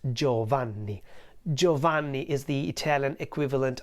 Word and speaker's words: Giovanni: o in the end and it would be pronounced Giovanni Giovanni is the Italian equivalent of the name